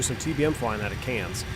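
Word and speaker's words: Cairns: Bravo Hotel Mike and we're headed over to cans which is I've been there in real life and we're going to go we're going to do some TBM flying out of cans it's pronounced cans like C NZ or CS even though it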